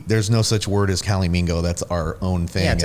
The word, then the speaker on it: calimingo: no such word as calimingo that's our own thing that's amazing it doesn't exist we know why don't you spell that for people so cali like california and mingo like flamingo cali a-l-i-m-i-n-g-o dot com